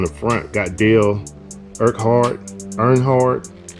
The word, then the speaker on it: Earnhardt: front got deal Burkhardt Earnhardt and that's how you pronounce his name I'm not a NASCAR